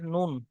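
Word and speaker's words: ن: লাম তারপরে দেখুন জিভের আগা এবং তারপরে লামের পরে হচ্ছে কি নুন। জিভের আগা এবং তার বরাবর উপরে তালুর সাথে লাগিয়ে উচ্চারিত হয় নুন, নুন।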